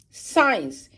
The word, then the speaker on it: science: Silent. C. Science. Here is C is silent.